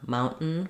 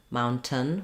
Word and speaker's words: mountain: For example, words like button or mountain. We don't say button, mountain with a vowel for that letter O. We just say the N sound, and it functions like a syllable.